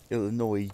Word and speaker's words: Illinois: I say it really weird now that I know that the S is silent. Illinois.